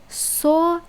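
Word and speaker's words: соль: And to say sol, you put your tongue a little bit behind it. You know, we have these things up here, and you basically put your tongue there to pronounce it soft.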